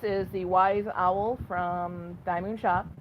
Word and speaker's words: DIY Moon Shop: the wise owl from diamond shop as the title says DIY moon shop but they pronounce it diamond on their videos that was the that's